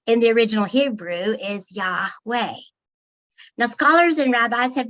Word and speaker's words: Yahweh: or aspirated consonant so when pronounced without intervening vowels it actually sounds like breathing yeah inhale boy exhale